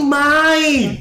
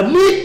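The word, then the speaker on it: Mind: I N D Hách, M I N D nó đọc là Mai. Mai Hách, Hách nhão ý. Chứ không phải là Mít, không phải là đường giữa, không phải là Gia Sua.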